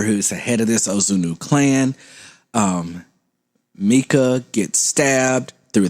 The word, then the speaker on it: Ozunu: I had to say it like that because every time I say Ozunu, I've always said it. Ozunu. And look, that's how they say it in the movie. Just like that.